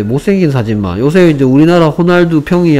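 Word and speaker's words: Ronaldo: 호날두죠. 호날두. 됐습니까? R이 H처럼 발음됩니다. 스페인어 이런 뭐 스페인어에서는 H가 R처럼 아니 뭐 R이 H처럼 발음합니다. 호날두죠. 호날두. 로날두가 아니고요. 호날두.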